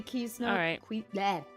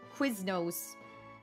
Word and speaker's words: Quiznos: I had never been to Kisnos Quiznos. That's how you say it when they were in business.